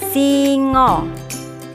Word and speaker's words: singa: bahasa Jawa hewan ini disebut Singo tulisannya singa a-nya dibaca O masih belajar tentang nama-nama